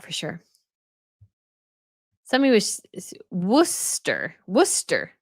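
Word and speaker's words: Worcester: sure somebody was wer Worster not Worchester Worster I would not that would not be my first first way I would pronounce it but I I figured I was probably pronouncing it wrong so that was a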